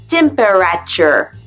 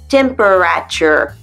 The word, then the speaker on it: temperature: Temperature. Non, ça c'est la tête de l'américain en face si tu dis temperature. Non, ça se prononce temperature.